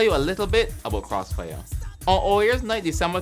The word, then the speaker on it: Krosfyah: moniker higher level i renamed themselves to cross fire i am not mispronouncing that the man really said